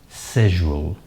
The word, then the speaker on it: schedule: Okay, now, it has the British pronunciation and the American pronunciation. Okay, the British pronunciation sounds something like schedule, and the American pronunciation pronounced schedule. So schedule.